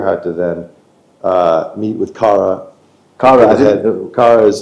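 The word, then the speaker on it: CARA: You first go on Kara's website, Yeah.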